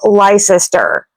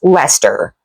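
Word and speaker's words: Leicester: Words with long spellings are pronounced short.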